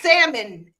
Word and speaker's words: salmon: I'm a sea L you pronouncing it wrong it's salmon it's salmon it's no nothing of it you can see it it's right there down there in the middle but you do not pronounce it made up made made